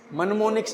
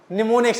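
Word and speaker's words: mnemonics: चाहिए, क्या बनाने चाहिए, निमोनिक्स, मनमोनिक्स नहीं, निमोनिक्स। एम क्या है, साइलेंट है, ठीक है।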